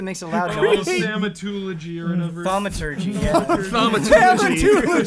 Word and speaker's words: thaumaturgy: It's pronounced thaumaturgy.